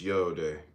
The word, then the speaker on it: Yod: Yod pronounced Yode, transcribed as I, Y, the number 10, meaning creative hand, the intelligence of will.